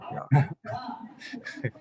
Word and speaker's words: Ja: How do you say yes in Dutch? Ja? Yeah. Ja.